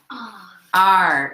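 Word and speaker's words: 二: How do you say that one? R. So it's E-R. 1, 2.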